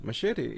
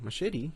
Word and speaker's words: machete: Machete, as people call it in English, but you, as Spanish speakers, because I believe you understand Spanish, you should say it correctly. And you will say machete, And you will probably